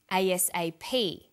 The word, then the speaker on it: ASAP: Notice that each letter in the abbreviation is pronounced separately, but the last letter is pronounced more strongly because it carries the primary stress. So we say USA, ASAP, ABC, and TV.